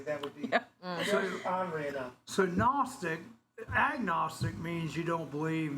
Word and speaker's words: Gnostic: Um, it's uh it's called Gnostic Gnostic Christianity. Gnostic. GN. Well, not agnostic. Yeah, it's gnostic. Gnostic. It's uh the G is silent like in lasagna.